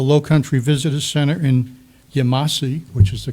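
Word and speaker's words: Yemassee: interstate highways, the Low Country Visitor Center in Yamasee, which is the correct pronunciation according to the indigenous groups, and the Visitor Center in Port Royal.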